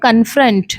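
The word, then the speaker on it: confront: यहां पे जो सी ओ एन लिखा है इसे आप कौन मत बोलिएगा। इसकी प्रोनाउंसिएशन होती है कन और एफ आर ओ एन टी से निकल कर आता है फ्रंट। तो क्फ्रेंट इसकी करेक्ट प्रोनाउंसिएशन हो जाती है।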